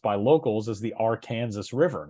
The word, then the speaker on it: Arkansas River: Uh that river is pronounced by locals as the R Kansas River, not the Arkansas River.